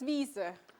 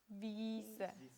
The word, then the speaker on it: Wiese: Über die Wiese. Yeah. So, this IE we have here and here Вот это и, is которое just, здесь и здесь, is just pronounced as a long E.